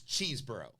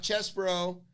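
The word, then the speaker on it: Chesebro: that is settled it's cheese bro not chess bro not cesborough not not it's cheese bro cheeseburger because that's his name there you go it's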